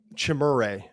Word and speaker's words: Chimere: Chimere. Sorry, I should pronounce his name correctly if he's going to be one of my favorite players in this draft.